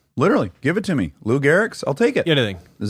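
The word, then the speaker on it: Lou Gehrig: any other thing literally give it to me Lou Garrick I'll take it anything is that how you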